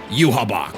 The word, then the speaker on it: Yhwach: Just in time for a 1,000-year blood war with a final endgame boss, Yhwach.